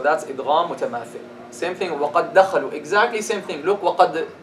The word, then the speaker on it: وَقَدْ دَخَلُوا: Merge them. When you have a letter followed by them. A letter that is sakin followed by the same letter which is mutaharrik. Drop the first, stress the second.